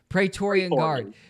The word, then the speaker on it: Praetorian Guard: Praetorian Guard.